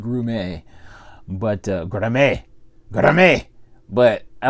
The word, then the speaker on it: Grummett: It's spelled Grummett, but I believe it's pronounced Grumet.